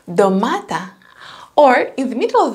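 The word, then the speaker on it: ντομάτα: Sound d when they're at the beginning of the word, it can be domata, tomato, domata, or in the middle of the word or a name, they can pronounce like nd.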